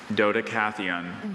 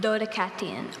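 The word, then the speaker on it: Dodecatheon: Dodecathion. Dodecathion. Are there any alternate pronunciations? No, there are not. Okay, repeat the word. Dodecathion.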